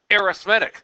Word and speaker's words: arithmetic: what arithmetic means so putting the accent on the other syllable we call it arithmetic but it refers to